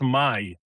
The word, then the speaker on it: Maj: So for our non-Polish listeners, how is your name pronounced? Mai.